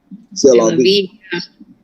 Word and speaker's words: C'est la vie: C'est la vie. C'est la vie.